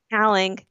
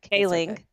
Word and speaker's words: Kaling: Kaling.